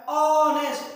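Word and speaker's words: honest: इसका प्रोनाउंसिएशन जो निकल रहा है ऑनेस्ट, ओ माने वॉवेल का निकल रहा है, तो आर्टिकल एन लग जाएगा, इसमें कोई डाउट नहीं।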